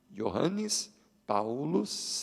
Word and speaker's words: Johannes Paulus: E você já viu ali que, porque em latim, pronuncia-se assim, ó, Johannes Paulus II.